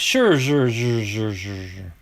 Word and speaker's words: Scherzer: hard to beat max i'm gonna it's max scherzer when he was with the d-backs but i was watching papaji the other night he always says max sure that's how he pronounces him max sure boom rookie card